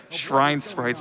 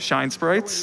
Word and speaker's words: Shine Sprite: It had to get re-recorded for NTSCU and PAL because they said shrine sprites instead of shine sprites. Yeah, they mispronounced the main collectible in the game.